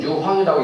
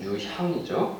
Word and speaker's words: 유향: 가끔 유황이라고 있는데 유황이라고 읽으면 틀린 거예요. 유향이죠. 네.